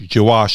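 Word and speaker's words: gouache: um yeah i mean g wash jawosh is how it's pronounced okay thank you i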